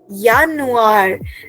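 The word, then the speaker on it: Januar: ऑफ़ the year is यानुआर। Remember J in German is pronounced S वाई सो करली वी आर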